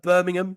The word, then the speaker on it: Birmingham: American Jay so American this is uh Birmingham B Burmingham you know because we just can't be asked to finish most of the syllables that we have Jay the capital of